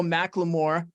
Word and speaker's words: McLemore: panel we've got Antonio McLemore uh Antonio did I get your last name pronunciation right yeah it's just like the rapper that's I didn't want